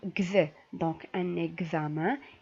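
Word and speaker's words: examen: دونك كتسمعوا معايا النطق اكزامان ماشي اكسامان نو.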